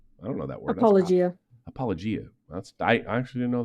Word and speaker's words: apologia: Apologia.